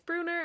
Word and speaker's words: Brunner: So I think that's why it's Bruner and not Brunner, but it is spelled Brunner. So I will probably continue to say Brunner.